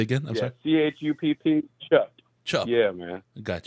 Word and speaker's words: Chupp: I've commented a couple times, and you're like, I don't know how to pronounce it, and it doesn't have an accent over the P, so it's not Chupa.